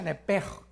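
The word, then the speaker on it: נפש: La palabra alma es nepesh. En el hebreo, apúntalo. Nep se pronuncia nepj porque la ch en hebreo es nepeg y la palabra espíritu es roaj.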